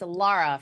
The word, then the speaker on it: Lara: The pronunciation of my name, I'm really not that concerned with. You've done a very nice job. I have never been offended by any way you've said it, but it's Lara for those Well, do you know wondering.